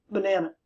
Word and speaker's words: banana: So that schwa sound we use in unstressed syllables. B, na, n, b, na, n, banana, banana, banana, bin, banana. That schwa is that half of a low sound that we use for unstressed syllables.